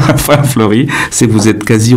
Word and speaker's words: Flori: Et donc, Flori en Corse, c'est Flori comme en roumain, ça vous le prononcez de la même manière? Flori.